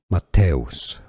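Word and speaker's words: Matthäus: you got Matos okay th is here pretty much pronounced like a t not th Matos and us is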